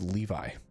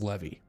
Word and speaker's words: Levy: I've had elusive Levy, elusive Levy, and Elusive Levi. It's Levy.